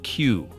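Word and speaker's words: 九: And 9 is pronounced Q, the word for suffering.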